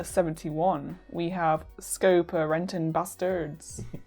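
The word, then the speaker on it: Basterds: At number 71, we have Scopa Renton Bastards. You can just say Glorious Bastards. You don't need to pronounce the E.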